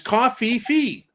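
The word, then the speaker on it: covfefe: h on this but you've been pronouncing that wrong for the last week and I keep forgetting to tell you after the show well it's Cofe Fe remember the Trump meme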